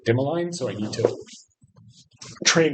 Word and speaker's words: Dimaline: Why Dimmolene, I keep calling her Dimolina and then I listened to an interview with her and she pronounces it dimmaline.